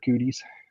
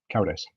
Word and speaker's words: Cowdice: That's Mr. Cowdice, or Mr. Cooties, if you want to. It doesn't bug him at all. He's used to it. But anyway, Cowdice is the proper way to say it.